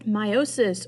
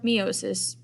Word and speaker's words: meiosis: hi guys let's talk about meiosis or meiosis both ways are um technically the correct way to say it so here is the